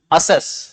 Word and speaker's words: assess: उसके बाद में एक नया पेयर उठा लेते हैं अपन, a pair of confusing word, एक्सेस एंड असेस। Pronunciation पे भी ध्यान दो, ए के बाद में